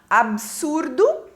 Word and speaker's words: absurdo: ortoepia então por exemplo a palavra absurdo né Aqui está correto Mas ela é erradamente pronunciada com um I depois do B formando a